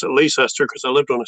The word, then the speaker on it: Leicester: And L E I C E S T E R.